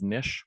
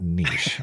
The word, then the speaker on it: niche: and uh you in your pronunciation of Nish at least it's not Niche I'll allow it so